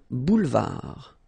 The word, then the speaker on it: boulevard: Un boulevard. Final D not pronounced. Un boulevard.